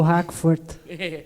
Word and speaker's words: Hakvoort: E a Hackvoort e a Erna vão me falar se eu falei certo o sobrenome. Eu acertei a pronúncia? Acertou, Hackvoort.